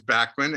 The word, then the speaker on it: Bachman: b o c k so you could sell in german it's bachmann right it was like bachmann turner over drive that kind of in england it's real quick it's beckman turner overdrive in canada it's backman and the state's at